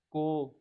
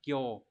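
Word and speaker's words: 興: chữ Hưng của N1 đọc là cô hoặc là Kyo ví dụ trong từ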